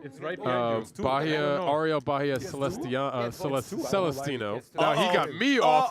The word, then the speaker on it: Celestino: with the name quite often and hysterically butchered by Joey Ingram. Not Celestiano. Not Celest Celestatino. Trophy sick or something or it's right there. It's right behind Baja. Ariel Baja. Celest Celest Celestino.